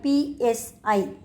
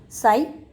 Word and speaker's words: psi: known as psy so the pronunciation of water potential is psi p s i the p is silent the pronunciation is psi so this and also